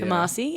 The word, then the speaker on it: Kumasi: Is that how you pronounce it? Sorry. Yeah, it's Kumasi. Kumasi, and that's Ghana's second largest city.